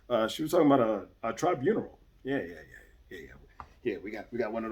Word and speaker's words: tribunal: It's 3 syllables. Just 3. Tribunal. That's all it is. 3 syllables.